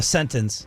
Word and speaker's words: sentence: There is a T. A sentence. It's You're a saying softy. sentence. Sentence. It's just it's soft. It's not as dentalized.